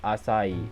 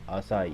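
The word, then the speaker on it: açaí: Vietnamese pronounced and then acai bowl once again American pronunciation terms derived from Portuguese and depending on Brazil or Portugal is pronounced acai or acai foreign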